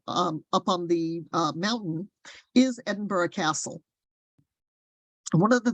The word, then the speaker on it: Edinburgh: in Scotland this is Edinburgh that is Edinburgh not Edinburgh um that's how they pronounce it um and it